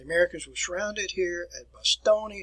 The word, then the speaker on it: Bastogne: You can actually go to Bastogne, or Bastogne as you would pronounce it today.